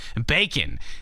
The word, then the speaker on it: B4KN: Kicking us off, Bacon, Sonic 2, the Mystic Cave Zone remix. This actually, Bacon is spelled B4KN, and that is a play on John Bacon, which is his real last name, aka John from George and Jonathan.